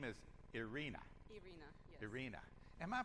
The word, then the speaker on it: Irina: and your name is irina am i pronouncing that correctly uh well you can use a russian accent and say idina can you do that